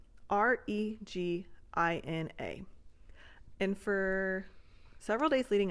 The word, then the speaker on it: Regina: know this is real there is a city in the middle of Canada spelled like r e g i n a and it is called Regina and then you're at